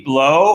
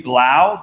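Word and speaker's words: Blough: All right, I'm going to give a couple of pronunciations to this last name. Amy Blow, or Amy Blau, B-L-O-U-G-H, from Sterling, Ohio.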